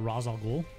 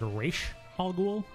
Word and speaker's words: Ra's al Ghul: has this enemy called Ra's al Ghul yeah apparently it's a more common pronunciation than I gave her credit for but one of my friends the other day said a ratio hoggle and it like threw